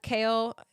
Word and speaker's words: Chaol: That's the only thing I heard when I heard someone say his name is Kale. I was like, like the vegetable?